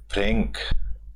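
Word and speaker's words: Frankl: कोई मीनिंग है तो Victor फ्रेंकल फ्रेंक L silent रहता है इसमें विक्टर फ्रेंक क्या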